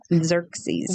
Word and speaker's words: Xerxes: Xerxes. Xerxes. He loves to chew on his favorite snacks, the zoo says. He loves to play. He loves watermelon, cantaloupe, pears, and celery. So do I. Xerxes, so do I.